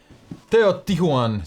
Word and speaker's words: Teotihuacan: Teotihuacan, City of Gods, is a heavy Euro game with an interesting mechanism.